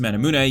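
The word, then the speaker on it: Manamune: trying to rush the mana moon a and yes it's pronounced madamluna you can clearly see the references to the Japanese Muramasa and Masamune now feel free to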